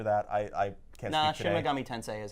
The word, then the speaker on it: Shin Megami Tensei: Shin Megami Tensei is how you say it.